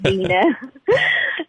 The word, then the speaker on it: Deana: It's official Deana Carter, and you'll see if you go on Facebook, look for the one that spells my name phonetically in parentheses. It says it's D-E-E-E-E-E-N-A. It's not Deana, it's Deana.